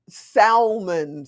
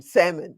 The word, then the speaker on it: salmon: So phone starts with an F, you know, it's like it's the words that you know, salmon, salmon, you know, the L is silent, blah, blah, blah.